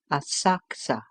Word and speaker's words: Asakusa: Afterwards we went to visit the temple of Sensoji at Asakusa, spelled Asakusa, pronounced Asakusa.